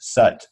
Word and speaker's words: Sat: But the Sat is pronounced Sut, like S-U-T.